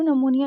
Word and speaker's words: pneumonia: यहाँ पर पी लिखा है लेकिन ये बेटा पी साइलेंट पढ़ना होता है। यहाँ पे पी को पढ़ा नहीं जाता, इसको नमूनिया पढ़ा जाता है।